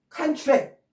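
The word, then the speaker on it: contract: 그 다음에 또 이게 앞에 강세에 있어서 명사가 되면 칸츄렉 이렇게 되면은 전혀 앞에와는 다른 단어가 돼버리는 거예요. 똑같은 스펠링인데 이 강세에 의해서 컨트랙트냐 칸츄렉이냐에 따라서 앞에 강세가 있는 명사가 되면 이거는 계약, 어떤 계약, 응?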